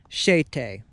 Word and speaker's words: Chatata: a small rural community known as chatata or better known by its Cherokee pronunciation as shet now before this land